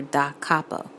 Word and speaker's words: da capo: DC, that's capital D, capital C, stands for da capo. Da is spelled D-A, capo is spelled C-A-P-O.